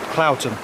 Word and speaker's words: Cloughton: But Cloughton, to me, is spelt Cloughton. From my experience with places like Grindsbrook Clough in the Peak District, that's how it's pronounced, Clough, but no, Cloughton.